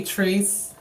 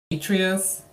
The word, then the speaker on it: Atreus: People might say Atreus or Atreus. If y'all pronounce it wrong, I'm gonna laugh at you. It's really hilarious. It's Atreus or Atreus. I don't care. You can go with one of those two. They both are correct in my opinion.